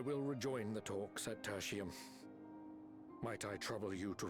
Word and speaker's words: Tertium: Tertium, that's how you say it, okay.